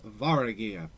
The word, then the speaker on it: Varagyr: Also, to introduce, we are playing House Varagyr. I did pronounce that right.